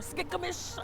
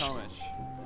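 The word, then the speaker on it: Skykomish: Skycomish? Or Skikomish? It's Skycomish. Skycomish.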